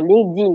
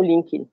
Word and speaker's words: LinkedIn: T que le numérique c'est sur Linkedin comme prononce certains ou Linkin ah voilà et on